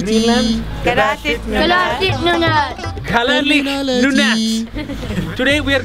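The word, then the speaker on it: Kalaallit Nunaat: Kalaallit, Nunnat.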